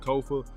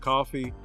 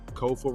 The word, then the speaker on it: Kofa: I'm your host, Kofa, not coffee, not, not kofi, or any variation thereof. Kofa rhymes with sofa.